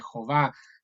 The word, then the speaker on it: Jehová: correcta debe ser Jehová, tal como se pronuncia Jehová, eh, encargando la última sílaba, va, mejor dicho, va, acá, va.